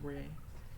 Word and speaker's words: Rai: I think they pronounce it Ray.